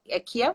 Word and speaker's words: Kiel: Kiel que fala o nome da sua cidade? Como é que pronuncia?